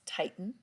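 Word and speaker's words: titin: think it's fun that the name of it is titan like you're tightening something up but you spell it titi in titan now look where it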